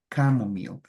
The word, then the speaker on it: camomile: we say bake right so in English in most of the words that you will see that go with ch we pronounce it like a k right camomile do you know what